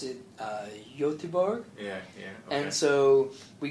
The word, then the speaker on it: Göteborg: It's in Gothenburg, so they pronounce it Göteborg.